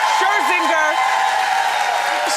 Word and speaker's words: Scherzinger: Scherzinger.